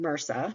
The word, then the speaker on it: MRSA: this is an abbreviation Mera but we pronounce it as one word and you'll see that